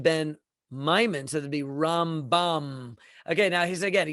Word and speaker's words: Rambam: The convention is that when we want to say Maimonides' name, Rambam, we accent it on the first syllable, Rambam.